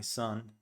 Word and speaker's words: son: Something interesting is that son actually is pronounced exactly the same way as son, which is something that most people don't know. Most foreigners think this is o, as in Spanish, and this is, well,